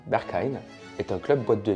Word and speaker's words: Berghain: Le bergain prononcé en allemand Berkein est un club boîte de nuit techno de Berlin en Allemagne.